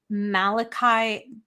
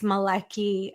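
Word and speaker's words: Malachy: always pronounce it wrong when I say Malachi people will say it's not it's Mal it's Malaki and I'm like what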